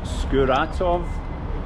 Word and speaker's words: Skuratov: skurat there you go you heard it from the locals skuratov I probably put the stress on the wrong correct correct did I say it correctly yeah see in Russia if you put the stress on the wrong part a lot of people just say they don't understand what you're saying if you say skuratov